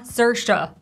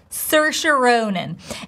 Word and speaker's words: Saoirse Ronan: You see sound er, same as in her, schwa, Saoirse, Saoirse, super simple. Ronan, diphthong O, stress on the first syllable, Ronan. Saoirse Ronan. And don't forget, if we have first name and the last name, we'll be stressing the last name.